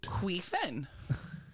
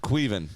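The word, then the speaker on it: Caoimhín: Queefin. No. Look at the source. It's Irish. It's probably like Kyle. It's the way it's No, it's fucking pronounced. it's spelled like Colilin, Yeah, but it's pronounced Queven.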